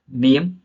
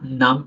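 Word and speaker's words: name: Next one देख लेते हैं यहाँ पे टाइप, नेम। अब यहाँ नाम नमे या नेमे नहीं पढ़ेंगे, इसको नेम ही पढ़ेंगे ना, इंग्लिश के अकॉर्डिंग।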